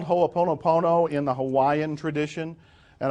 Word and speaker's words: Ho'oponopono: It's called Ho'oponopono in the Hawaiian tradition, and I wasn't even going to tell you that because now you have to write it down. And how do you spell it? Ho'oponopono.